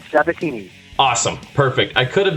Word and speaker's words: Sabatini: your last name very simple just like it's spelled satini awesome perfect I could